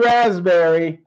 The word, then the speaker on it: raspberry: have won it's blue raspberry and just W you just forgot the P in raspberry so the P is silent a little bit tricky so dizzy you are